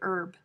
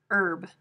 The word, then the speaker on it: herb: it salmon it's salmon some speakers of american english pronounce the h but the vast majority keep the h silent and consider the pronunciation